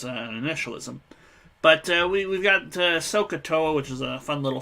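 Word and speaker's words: SOH CAH TOA: of an acronym because it is pronounced like a word like scuba is not like IRS or something which is an initialism but we've got sohcahtoa which is a fun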